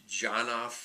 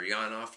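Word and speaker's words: Janov: some therapies that developed the janof and or yanof depending on how you want to pronounce his name in his Primal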